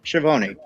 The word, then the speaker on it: Schiavone: So after the commercial break, we have Schiavone backstage with I keep saying his name wrong. Schiavone.